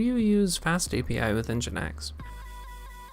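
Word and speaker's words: nginx: use fast API with engine X so engine X is spelled NG g i NX rather than engine X and and uh the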